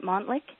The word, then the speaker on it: Montlick: your law firm uh am I pronouncing your last name right Montlick yes you are okay Montlick and Associates